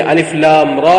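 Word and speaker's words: الر: முறையாக இருக்கிறது கவனித்துக் கொள்ளுங்கள் எப்படி ஓதுவோம் அலிஃப் லாம் ரா அப்ப இந்த மூன்று எழுத்துக்களுக்கு மத்தியில் நாங்கள் மூர்ச்சியை நிறுத்தி விடாமல் ஓத வேண்டும் எப்படி ஓத மாட்டோம் அலிஃப் லாம் ரா இப்படி இந்த எழுத்துக்களுக்கு மத்தியில் நிறுத்தி ஓதுவது அது பிழையான உச்சரிப்பாக இருக்கிறது அதேபோல் சிலவங்க அந்த ரா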